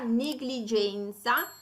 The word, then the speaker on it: negligenza: Fanno eccezione poi richiedendo la pronuncia biconsonantica negligenza, negligere e negligente. In questo caso vedete il suono è quello gl, gl, così come anche parole